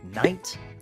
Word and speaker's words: night: light cough laugh ah in the words night and light the GH is silent when the GH is